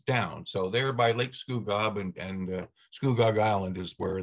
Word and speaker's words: Scugog: Did I pronounce that correctly, Robert? Scugog? Scugog.